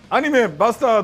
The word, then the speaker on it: BASTARD!!: Instead of stressing the last syllable of BASTARD!! I've adopted the correct English pronunciation.